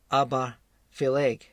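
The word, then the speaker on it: Obar Pheallaidh: But unusually, Aberfeldy, though Aber again means mouth, but in Gaelic it's pronounced Aberfeleg, and Feleg refers to a water spirit.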